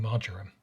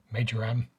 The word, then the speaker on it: Marjoram: to pronounce my name it's marjoram although i've also had major am and majoram and i even once got a skip delivered to mr margarine any of those will